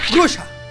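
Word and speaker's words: груша: Y se pronuncia grusha.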